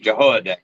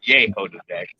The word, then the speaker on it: Jehoiadak: The name's Jehoiadak, not Yehoiadak.